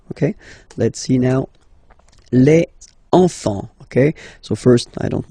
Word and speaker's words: enfant: Don't pronounce the T, you don't pronounce the S. Enfant, okay?